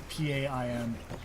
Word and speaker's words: pain: P-A-I-N. Oh. But pronounced like pain for like bread.